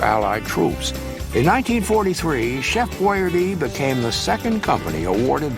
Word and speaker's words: Boyardee: And he wanted to make sure that when he arrived that everyone would pronounce it properly. So when he, on the can, he put it Boy-ARDEE.